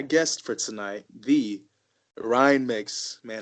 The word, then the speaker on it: Mueksch: He's also, most importantly, a Chicago Cubs fan, and his last name rhymes with Twix. Ladies and gentlemen, my guest for tonight, the Ryan Mueksch.